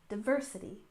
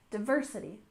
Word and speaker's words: diversity: first we have diversity with stress on the second syllable diversity diversity and of course this refers